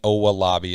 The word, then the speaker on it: Owolabi: And it's Dan Owolabi. It sounds just like it's spelled O-W-A, I believe.